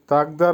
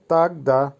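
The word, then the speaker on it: тогда: তাগদা, তাগদার অর্থ হবে তখন। উচ্চারণ হবে তাগদা।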